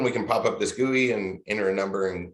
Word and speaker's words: GUI: so gui for graphical user interface is usually pronounced gui i think most people are familiar with that